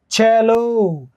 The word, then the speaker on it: cello: सी city, सी कार, सी चैलो, और चे का सिंबल ही होता है टी और इस तरह लहर।